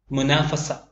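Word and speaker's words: منافسة: മുനാഫസ മത്സരം മുനാഫസ തുൻ എന്ന് എഴുതും, എന്നാൽ ഉച്ചാരണത്തിൽ മുനാഫസ എന്നേ വരികയുള്ളൂ.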